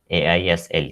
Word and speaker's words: aisle: AISLE. It is pronounced as aisle.